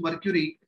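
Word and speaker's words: mercury: इस्तेमाल किया जाता है, मरकरी इस्तेमाल किया जाता है। Right way to pronounce is मर्क्यूरी, but generally we call it मर्करी, तो कुछ भी बोल लीजिए, does not make much difference being a science student.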